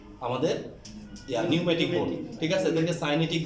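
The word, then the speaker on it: pneumatic: উচ্চারণ পি আসবে না, নিউমেটিক। এই যে নিউমেটিক পিটা উচ্চারণ হবে না।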